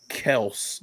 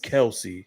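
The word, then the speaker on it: Kelce: ends we got travis kels now he said his name is last name is pronounced kels but he will respond to kelsey so everybody knows him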